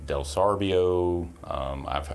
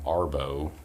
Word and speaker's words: Delsorbo: Mine, it's Delsorbo. I've actually got an Arbo, which I'm not sure how they did that. Just Arbo.